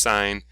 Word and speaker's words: sine: see the three buttons syn it's actually pronounced sine tan and cos okay if